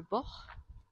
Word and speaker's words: Born: village qui s'appelle le bord qui s'écrit born mais on dit seulement bord les habitants de ce